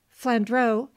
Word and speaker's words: Flandrau: his budget he said flandreau giving my name the full french pronunciation when we get down